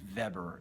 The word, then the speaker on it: Weber: of a guy named Max Weber or verber if you want to go with the German pronunciation of this who put forth the